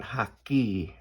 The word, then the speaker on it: hake: is 9x12, your medium hake brush, H-A-K-E, this is Ron Ranson hake, and this is the small. Hake is how it's pronounced, but I'm kind of wondering now if it ain't haki. It's Japanese.